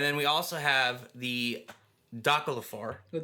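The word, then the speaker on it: Dökkálfar: And then we also have the Dalafar. The Dolphar.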